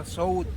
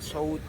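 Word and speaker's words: Söğüt: Usmani tool itu adalah sout Kalau tulisannya sogood dia bukan so good yang sosis itu ya bukan tampil sout Ya kalau karena gereja itu ada tanda di atas jadi bacanya sout disitulah di daerah namanya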